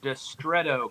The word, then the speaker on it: Distretto: Distretto coffee. That's how you pronounce it.